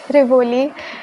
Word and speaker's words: Rivoli: So I'm going to reveal my name now and it's Rivoli.